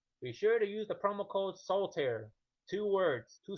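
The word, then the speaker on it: Soltaire: apply on the promo codes which is soul tear two syllables two words soul tear s o l t a i r e soul tear and I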